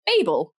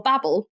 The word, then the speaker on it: Babel: Um then I would like to recommend to you Babel or Babel depending on how you pronounce that uh by RF